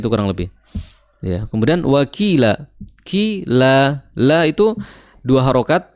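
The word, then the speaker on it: وَكِيلًا: Jadi waqila sama panjangnya dengan qi.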